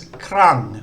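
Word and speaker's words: ครั้ง: It's again, it's the ko, kwai, ro, rua consonant cluster, and the final consonant is ngong. The vowel is mahanagat, it makes like an English U sound. And this is krang, which means times.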